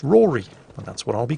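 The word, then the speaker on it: Rhodri: anything about celtic pronunciation usually when the letter d follows a vowel the d is silent so it's pronounced rory and that's what i'll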